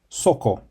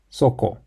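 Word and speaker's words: そこ: The word there is pronounced soko.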